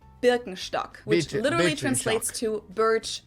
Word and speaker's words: Birkenstock: Birkenstock, Birkenstock, which literally translates to birch stick.